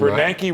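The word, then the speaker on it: Bernanke: Bernanki rhymes with Yankee.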